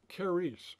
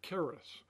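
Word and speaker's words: χάρις: of those letters in the pronunciation kice or Caris that's where the word charismatic comes from and then it gives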